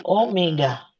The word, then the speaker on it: omega: Ini bacanya bukan W ya, tapi omega.